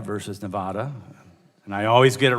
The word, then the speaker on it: Nevada: nuclear energy facilities it is exceedingly unfair that Nevada is asked to serve as The Dumping Ground